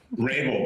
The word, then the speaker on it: Rabil: Rabel, but it's all good.